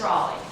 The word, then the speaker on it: Raleigh: I'm Raleigh. Like Sir Walter.